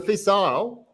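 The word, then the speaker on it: Fèis Ìle: How do you pronounce it, Bill? Is it the Fishar or Fisile? So it was a Fisile, and they had I can't remember if Jim McKeown was there at the time.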